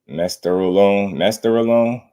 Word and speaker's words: Mesterolone: Mesterolone.